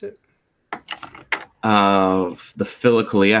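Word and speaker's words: Philokalia: pronounce it uh the phillicalia how do you spell that p-h-i-l-o like philosophy philo friend or whatever kalia is the good or the beautiful kalia k-a-l-i-a nothing to do with cali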